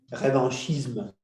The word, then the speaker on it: revanchism: Revanchism. Okay, revanchism. Revanchisme. Pronunciation, which is always better.